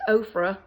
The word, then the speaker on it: Ofra: Ipsy bag it's by ofra which is like Oprah and okra but it's ofra and it just has